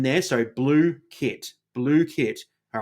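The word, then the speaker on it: Blooket: Okay, so that's I love how they've got the um pronunciation there. So, blue kit.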